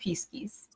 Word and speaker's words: Pisces: Well, in Latin, it is pronounced Pisces.